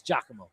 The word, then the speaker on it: Giacomo: It's Giacomo.